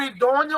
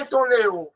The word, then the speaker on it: idôneo: O idôneo a gente já vê de uma forma diferente. Não é idôneo, é idôneo.